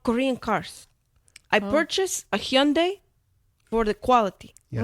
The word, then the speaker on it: Hyundai: And also, it's pronounced Hyundai. Hyundai. Hyundai. It's Hyundai.